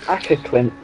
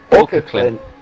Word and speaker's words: Åkerklint: Ackerklint. Åkerklint. Åkerklint. Like that.